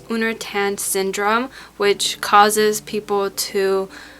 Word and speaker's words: Uner Tan: un unan syndrome I think it's how you pronounce it un I'll put it on the screen here but it's uner tan syndrome which causes people to have like it